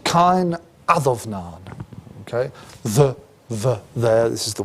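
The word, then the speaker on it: Cáin Adomnáin: Is a text called Cain Adomnain. Okay, there. This is the way we pronounce, so one way of pronouncing these things in Old Irish.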